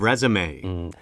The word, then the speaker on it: resume: It's an impressive resume. 발음 조심해요.